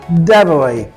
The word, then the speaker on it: debris: द शेसेस of this car is very strong जबकि दूसरा डी ई बी आर आई एस इसमें याद रखिएगा एस साइलेंट होता है। डेबरी डेबरी किसी भी इमारत के जो मलबा पड़ा हुआ होता है उसको डेबरी कहा जाता है।